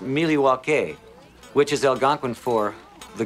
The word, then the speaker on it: Milwaukee: indian name yes pete it is actually it's pronounced miliwake which is algonquin for the good land along